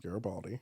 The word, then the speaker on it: Garibaldi: Garibaldi. Yes, Garibaldi.